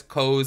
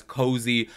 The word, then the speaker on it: Coz: I guess she pronounced it as Coz, and then Jaclyn pronounced it as Cozy.